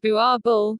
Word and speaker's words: Boerboel: 26 2019 john woods the bauble pronounced bua bull is a large guardian dog which is